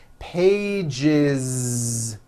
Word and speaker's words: pages: One page becomes two pages with that voiced Z. Two pages. It's not two pages, unvoiced, no. It's two pages with a voiced Z.